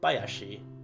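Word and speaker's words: 林: for forest that hayashi but if you notice it's read as high as she here but when used as a compound word when you put together with another kanji that hayashi turns into bayashi for those of you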